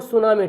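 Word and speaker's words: tsunami: सुनामी, देखिए लिखाते भी कैसे, देखिए टी सुनामी लिखा है, टी सुनामी, तो इसको पढ़ते हैं हम लोग सुनामी, टी को साइलेंट करते हैं, ये जापानी भाषा है, जापानी भाषा से लिया गया है, ठीक है ना।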